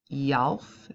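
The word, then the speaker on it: Tjalf: It's pronounced Yalf. So his first name is pronounced Yalf and his last name is pronounced Sparnai.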